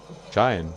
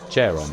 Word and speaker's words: Charon: Chairon. Chairon? Chayan. Chayan could be a way to pronounce that. Charon, though.